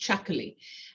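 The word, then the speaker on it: Txakoli: this this is called chocolate it's actually it's spelled very strangely it's a t x a k o l y and it's pronounced chuckly and it actually comes from The Basque region in Spain I actually went there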